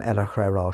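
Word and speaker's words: El-ahrairah: Adams makes it clear how the name Ella Herrera should be pronounced with the second syllables less stressed and the two r's slightly rolled which I almost manage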